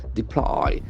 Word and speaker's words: deploy: especially an effective way deploy the accent falls from the second syllable deploy deploy build can